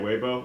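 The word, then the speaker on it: Weibo: there on his on his GitHub page but waybo oh that's how you say it webo okay cool yeah so if you can if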